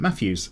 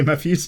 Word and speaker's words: Matthias: Matthias Amarim says, hey Mikey, if you read this comment, you can pronounce the name Matthews. Oh, okay, Matthews, cheers.